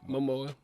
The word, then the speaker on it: Momoa: Momoa.